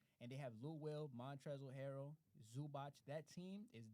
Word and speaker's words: Montrezl: You know you don't pronounce the L. It's just Montrez. Montrezl.